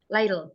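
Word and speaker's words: ليل: Itu kemudian mufradatnya Lailu, lail. Jadi bacanya lail gitu ya.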